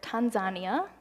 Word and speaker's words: Tanzania: So trip number 2 was to Tanzania, or Tanzania, as they pronounce it.